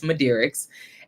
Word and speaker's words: Midearix: mind the question but this is the answer to the question it's madis and I'll spare you